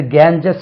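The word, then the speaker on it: Ganges: right த Holi river கேஞ்சிஸ் அது கேஞ்சஸ் கிடையாது இது இந்த வேர்டு தான்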